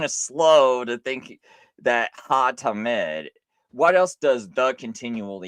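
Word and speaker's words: התמיד: So here's ha-tamid, the continual, because that's how you say it. That H-A-H-A-T, ha-tamid.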